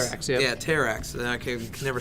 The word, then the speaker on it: Terrax: but it is action-packed he's going up against Terra Terra actually yeah Terrax so that I can never say his name